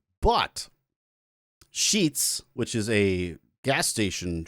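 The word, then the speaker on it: Sheetz: Sheets. We're good. S H E T Z. Got it. Is it how it's spelled?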